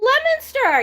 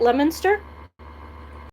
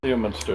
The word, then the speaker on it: Leominster: who knows miguel oh leominster yeah did i say it right leominster leo munster it's on the other side of it not leo minster it's leominster it's it's